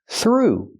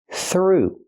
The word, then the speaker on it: through: this word through pronunciation use the th with no voice just air f plus the r th th through then the oo sound like food and moon through don't roll the r not through but through